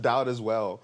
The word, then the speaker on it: Dowdeswell: Oh, I thought you said Elizabeth Dowd as well. That is kind of how it's pronounced. It's like Dowdeswell.